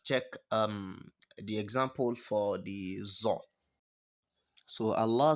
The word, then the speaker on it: ظ: Then we have another identical Arabic alphabet, which is zo. You can see the difference. The difference is that you pronounce so like S-O, then you pronounce zo like Z-O.